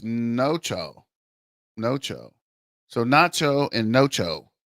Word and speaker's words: Nocha: in there so what's up with Jaylen it's pronounced noo noo so Nacho and noo cool noo finally